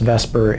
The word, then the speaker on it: VSEPR: stands for valence shell electron pair repulsion theorials pronounced Vesper and I'm going to call it Vesper from